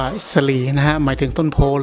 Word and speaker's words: ศรี: ครับ ก็ คือ ว่า คำ ว่า สี่ ก็ คือ ล้านนา อ่าน ว่า สะ ลี นะ หมาย ถึง ต้น